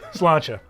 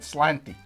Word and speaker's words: sláinte: Sláinte. I can't say that. I don't know. Sláinte? Sláinte. Sláinte. I always pronounced it slanty. Because I read it as it's written, but it's sláinte, and I don't know Irish people other than you.